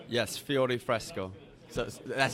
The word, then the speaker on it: Fiore Fresco: Yes, Fiore Fresco.